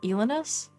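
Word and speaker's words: Elynas: technically born from elenas el el I keep saying it wrong elanus elanus elanus which was technically Calamity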